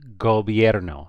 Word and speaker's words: gobierno: So this first word is pronounced gobierno, just like the G as in gallon, gobierno.